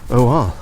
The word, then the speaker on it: Nikkor: When you have vowel, consonant, vowel, the first vowel is stretched to be pronounced as a long vowel as opposed to a short vowel. So the lenses that are made for these are made by the Nikkor Corporation, Nikkor.